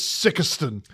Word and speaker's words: Sikeston: Knowing the states, it's Sikeston.